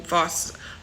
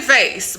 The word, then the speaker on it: vase: I love a full vast vast vase American say vase Brit say vas we say vas vas like we say it with an R almost but it's really spelled